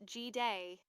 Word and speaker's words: Jide: His name was Jide, pronounced G-Day, he told me, smiling when I said it wrong the first time.